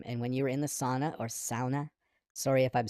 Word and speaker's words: sauna: Sauna. I think you're supposed to say sauna. Sauna. I say sauna. That is the bad North American pronunciation of this.